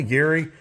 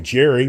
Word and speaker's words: Gary: call me Gary now Mr Sanchez wants to call me Jerry but I always believe it or not that's what people the way I pronounce my name actually many people think my name is Jerry because I just don't